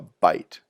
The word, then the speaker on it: byte: together that's called a byte sounds like a mouthful of food but it's spelled with a Y and it refers to